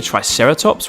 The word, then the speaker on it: triceratops: who do we have with us today triceratops try sarah tops can you say it with me try sarah